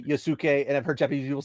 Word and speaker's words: Yasuke: do is they're going to try to reduce Yasuke or Yasuke, however you want to say it, to Yasuke a more is the correct pronunciation.